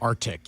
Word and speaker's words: RTIC: Grand Prize winner will get a Surfside prize pack, including the RTIC cooler. Is that how you say it? Or Arctic. Arctic.